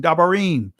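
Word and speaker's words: דברים: Dabar commandments, Dabar Yam, the masculine plural, or the Israeli pronunciation, Dabarim, right?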